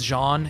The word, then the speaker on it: Jean: All right, I can't stop saying his name wrong, and people get really mad at me for saying Jean, but he's Jean. Yeah. But I said Jean. We're Americans, so it's like. We can say yeah, Jean.